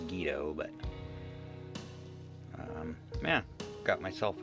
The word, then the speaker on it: Guido: similar experience guido stacking guido stacking however you want to pronounce it i've heard it's technically pronounced guido but um yeah got